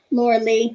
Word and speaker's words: Laura Lee: your name miss is it laura lee or lorelei laura lee okay sorry i said